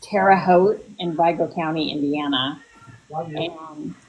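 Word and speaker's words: Terre Haute: That's pronounced terote. Terote. Okay. Yeah, it is terote.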